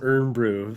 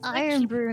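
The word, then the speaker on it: Irn-Bru: But I want this I want some haggis and some Urn Brew for Plasma to send me, and some German sweets from Deadly. It's Iron Brew, not Urn Brew.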